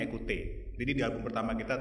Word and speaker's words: Ecoutez: jadi jadi memang e kalau dilihat dari tulisannya mungkin ee susah bacanya cuman enggak sebenar bacanya ekute jadi di album pertama